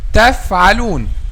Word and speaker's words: تفعلون: The correct pronunciation of this word is تفعلون. تفعلون, by making the edge of the upper two front incisors touch the inner bottom lip.